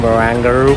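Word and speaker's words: Barangaroo: मेरा ऑफिस है एक एरिया में जिसे कहते हैं बारंगारू, ऑजीज जिसे प्रोनाउंस करते हैं बारंगारू की तरह, बट इट्स अ ब्यूटीफुल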